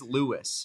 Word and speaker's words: Luis: I thought he used the ethnic pronunciation, too, until it was clarified. So, I believe it is Lewis.